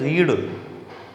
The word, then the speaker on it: read: बोलते उसको रेड है, लेकिन स्पेलिंग वही होती है READ।